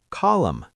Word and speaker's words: column: That N is silent. Column.